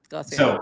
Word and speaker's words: Glossier: brand glossier I don't even know am I pronouncing that right yeah glossier yeah so somebody mentioned them as like something